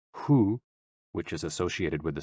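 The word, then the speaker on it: 呼: HOO, pronounced like hu, which is associated with the spleen.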